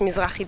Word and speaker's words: Mizrahi: The Mizrahi dance, is that pronounced correctly? Yes, Mizrahi dance.